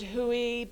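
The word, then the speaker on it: Hooe: it who is it Huey it's spelled h-o-o-e and so one of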